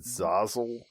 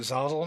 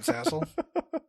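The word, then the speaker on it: Zazzle: and merch page at Zazle. Uh, you can find all that uh on the show notes. Are we pronouncing it Zazle now? Not Zassle.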